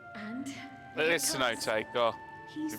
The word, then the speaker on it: Cenote: Like us, my grandfather went to the deepest chamber of the Sky Deep Cenote, and It is Cenote, God. he You saw pronounced the it all way wrong.